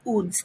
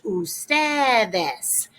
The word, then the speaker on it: ustedes: is the abbreviation ugs it's not pronounced uds though it's pronounced ustedes most people will abbreviate